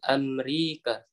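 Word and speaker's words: أمريكا: Hadzal muhandisu minal Amrika. Bukan enggak minal ya, min Amrika. Nama Amrika. tempat itu tidak boleh pakai al ya. Oh ya. Ulangi lagi. Hadzal muhandisu min Amrika.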